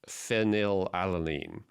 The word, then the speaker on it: phenylalanine: One of the 8 essential amino acids, I always mispronounce, but it's phenylalanine.